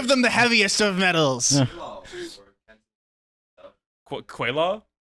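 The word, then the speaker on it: gweilo: What's the pronunciation? How do you say give it? them the heaviest of metals. Quaylaw? Guilao.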